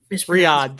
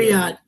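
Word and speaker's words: Riyadh: I I forget how to pronounce that. Yeah. I forget how I'm sorry if Riad. Thank you. Riad. Thank you. Riad.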